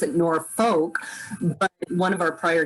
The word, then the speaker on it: Norfolk: it in the maps they misspelled it like norfolk virginia so if you're from norfolk you call